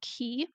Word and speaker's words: Qi: um Chi or Qi depending on which region of China or Japan it comes from is pronounced Chi or Ki and that is the